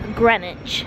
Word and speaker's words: Greenwich: we made it to grenwich spelled like green witch in The Maritime Museum